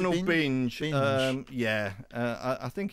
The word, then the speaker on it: Binge: Do we pronounce Ronald Binge? Binge.